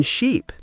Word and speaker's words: sheep: So, the key is ship has a short I sound. Sheep has a long e sound. Here's a tip. When saying sheep, smile a bit more and stretch the sound. Sheep. And for ship, make it short and quick.